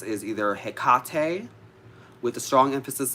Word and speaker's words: Hecate: either pronounced is either hekate with a strong emphasis as long as you're putting a strong emphasis on the middle syllable so hekate or hekato